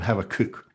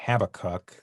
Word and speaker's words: Habakkuk: And I'm going to persist in calling him Habakkuk, which is the Hebrew pronunciation, because I just find it easier to say. And I might wind up saying Habakkuk, so we'll see where we go from there.